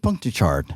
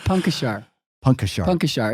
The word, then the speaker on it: Puncochar: my last name no I think you added like three syllables it's Punk a shark it's okay though yeah